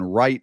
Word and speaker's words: Wright: The guy Aiden Wright with a silent W.